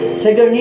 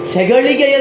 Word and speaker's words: ಸೆಗಳಿಗೆಯ: ಮಾಡುವಾಗ ನೀವು ಕೇಳಿದ್ದೀರಾ ಹಾಗಂತ ಉಚ್ಚಾರಣೆಯಲ್ಲಿ ನಿಮಗೆ ಎಲ್ಲಿಯಾದರೂ ಇದು ಸೆಗಣಿ ಅಂತ ಅನಿಸಿರಬಹುದು ಅಲ್ಲ ಅದು ಸೆಗಳಿಗೆಯ ಸಸಿ ಅಂದರೆ ಬಿಸಿಲಿಗೆ ಒಣಗಿದಂತಹ ಗಿಡ ಅಂತ